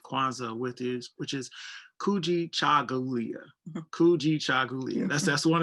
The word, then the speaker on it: Kujichagulia: brian for saying that i know people like wait how do you say this it's cool g chagulia and um that is